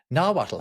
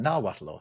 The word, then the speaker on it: Nahuatl: It's from Nahuatl. How do you pronounce that? Nahuatl? I think you're as correct as I'm going to be. I've heard that you sometimes don't pronounce the L, sometimes you do.